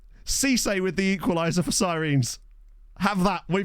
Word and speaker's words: Sirens: Yeah, it is technically pronounced Sirens.